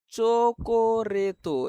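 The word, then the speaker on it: チョコレート: চোকোরেতো এটা হচ্ছে যুক্ত বর্ণ, চি এবং ইয়ো যুক্ত বর্ণ হয়ে চো উচ্চারণ হয়েছে। চো কো রে তো, চোকোরেতো মানে চকলেট।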